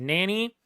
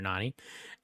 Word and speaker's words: Nani: know that n uh Nani was made to be Jesse's Nanny which I think is the correct pronunciation of Nani but we've always just called her Nani um and like that's